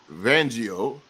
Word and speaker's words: Fangio: he I oh he just chose uh Vic vangio is that right come on thank you you